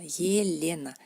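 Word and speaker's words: Елена: Tenemos nuestra Elena en ruso, pero al principio de la palabra se pronuncia como Y, y dentro de la palabra como Y, un poquito así cerrada. Yelena, Yelena, Yelena, Yelena.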